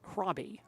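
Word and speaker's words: Hraby: Hroby, by the way, spells his name, for those of you not aware of this, H-R-A-B-Y, pronounced Hroby.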